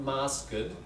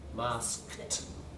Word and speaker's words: masked: So you've got a cluster there. Not masked, masked. Masked. The only time you'll get the extra syllable, right, like that, is if something ends in a T or something ends in a D.